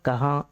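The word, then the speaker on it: कहाँ: சைலெண்ட்டா play ஆகும் சரிங்களா கஹா யகா வகா நீங்க அழுத்தி உச்சரிக்கணும்னு அவசியம் இல்லை கஹாங் யகாங் அப்படின்னு சொல்லணும்னு அவசியமில்லை கஹா யஹா வஹா அந்த இங்கங்கிறது சைலண்டா இருக்கணும்.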